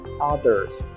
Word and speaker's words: others: Lembra aí da pronúncia do TH também, tá? Que a gente coloca a ponta da língua entre os dentes. Então, é others.